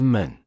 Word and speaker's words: 門: In Chinese, its pronunciation is 门.